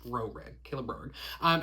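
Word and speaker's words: Roehrig: Rorig. R O E H R I G. I don't know what to do with that H. Rorig.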